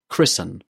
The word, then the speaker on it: christen: Listen, fasten, soften, christen. Did you hear a t sound in these words? No, you didn't, because the t in these words is silent.